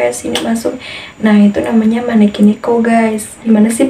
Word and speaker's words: maneki neko: Nah, itu namanya maneki neko, guys. Gimana sih pengucapannya?